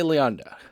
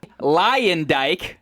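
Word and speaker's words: Luyendyk: for this season of The Bachelor with Arie Leonda. Is that how you say his last name? You tell me how to say his last name. I have no clue. Nick knows it. It's Arie Leondyke.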